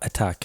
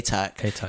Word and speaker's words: Atack: So it's not attack, it's Atack.